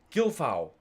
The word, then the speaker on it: Gilfau: Kevin Gilfu, thanks for your question. I know, Kevin, you told me how to pronounce it. Gilfau.